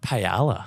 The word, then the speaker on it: paella: A lot of paella as well down at the markets. Well, if you're going to say it, pronounce it properly, mate. Paella is the way of the Spanish. Silent L's.